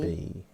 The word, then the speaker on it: Beebe: Beebe. That's how he pronounces it.